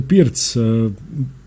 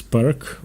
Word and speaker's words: Pirc: So the Pirc, often mispronounced as Perk, or in Croatian Pirčevka, was named after Vasja